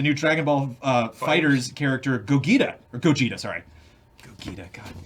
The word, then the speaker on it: Gogeta: It's pronounced Gogeta.